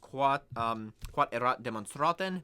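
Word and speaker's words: quod erat demonstrandum: In Latin, it's pronounced quod erat demonstraten, means to be demonstrated.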